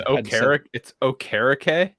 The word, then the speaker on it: Okereke: It's Okereke?